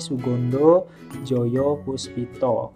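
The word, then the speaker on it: Soegondo Djojopoespito: Jadi O dan E itu dibacanya U ya. Kayak di sini Sugondo Joyo Puspito.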